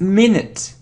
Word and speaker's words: minute: look at this word it isn't minute not minute it's minute minute look it's e it's the second sound a minute minute good it isn't bomb